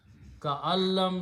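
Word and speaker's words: كأن لم: And in the pronunciation, you don't pronounce noon, so you pronounce ka'al. So you put a shadda there. Ka'allam yasma'aha, as if he did not hear.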